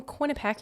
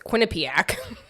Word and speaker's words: Quinnipiac: coin a pack university corner pack it's quinnipiac is it really quintopia you should you should pronounce it i'm a thousand percent sure it's quinnipiac really yes wow i feel like juliana ho um okay so quinnipiac they prefer that enunciation that is literally it's quinnipiac university just move on